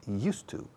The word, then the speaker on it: used to: Used se pronuncia used to. Como el monasterio de Yuste, cambiando la E-U, el monasterio de used to.